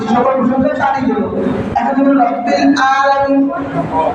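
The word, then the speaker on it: رب العالمين: কারণ এই দুইটা হরফের উচ্চারণ হলে অর্থ অবশ্যই কি থাকে? পরিবর্তন হয়ে যাবে। যেমন রাব্বিল আলামিন। রাব্বিল আলামিন।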